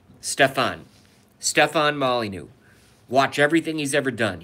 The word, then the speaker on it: Molyneux: his first name wrong it's actually stefan molyneux so it's a ste pH a n Molly new M Oh L Y n EI u X Stefan Molly new watch everything he's ever